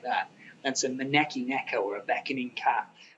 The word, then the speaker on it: Maneki: Will, you're the owner of Maneki Motion. Have I pronounced it correctly? Yeah, no, you've got it right.